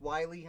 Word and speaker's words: Willie: a very and his his first name is not willie it's pronounced wiley i'm just seeing i